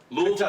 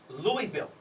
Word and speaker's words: Louisville: You live in Louisville, Kentucky. Louisville.